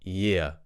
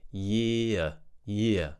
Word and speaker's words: year: we have yeah remember we're not pronouncing the r at the end of this word because we're speaking in RP so it's not going to be year it's going to be year I would say the